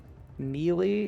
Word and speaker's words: melee: Melee?